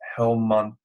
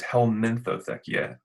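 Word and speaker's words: Helminthotheca: So just to get a little nerdy for a second, bristly ox tongue's Latin name is Helmothechia echioides. No, it's Helmintothechia echioides.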